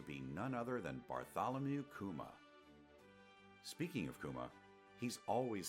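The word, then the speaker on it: 熊: one piece is from in Japanese the pronunciation of Kuma and Kuma from Kumamoto is exactly the same it's almost as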